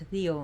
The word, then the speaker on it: Deo: It would be pronounced Theo in Greece, but we pronounce it Dio here.